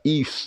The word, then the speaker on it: Yves: Ternyata itu bukan dibacanya Yves, dibacanya Yves Saint Laurent. Jadi Y di depan itu diucapkan I gitu Pak. Yves gitu.